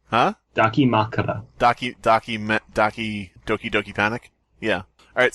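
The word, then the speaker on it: dakimakura: One of those Dakimara things? Is that pronouncing right? Huh? Dakimakara.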